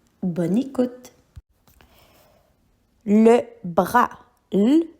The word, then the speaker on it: bras: Le bras le e r a bras. Ici avec le mot bras, tu dois porter attention au SM muet qu'on voit à la fin. On pourrait utiliser le mot bras dans la phrase j'ai mal à mon bras.